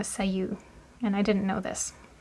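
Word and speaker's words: 左右: Hi and migi and instead of being pronounced hi and migi when they're used together as word word they mean left and right and it's actually pronounced uh say and I didn't know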